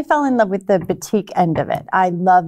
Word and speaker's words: batik: they call it batik.